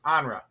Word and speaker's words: Andra: when i say uh say your name wrong and she's like no it's andra yes ma'am yes correct